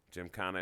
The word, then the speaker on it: gymkhana: GYMKHANA is spelled GYMKHANA. It's really like not like gym, J-I-M. But you say it like go to the gym.